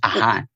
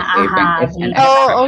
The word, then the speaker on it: AHA: It's actually pronounced AHA, not A. Yeah, AHA.